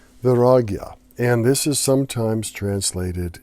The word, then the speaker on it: Vairagya: And this is called, and I want to pronounce it correctly, Vairagya. Vairagya.